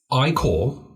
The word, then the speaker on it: AIK: swed again here uh it's iore which spelled a ik Stockholm jugon which is spelled DJ u r and then the garden and Hami that is hamar similar to the Hammer just an a instead of the e at the end here and B the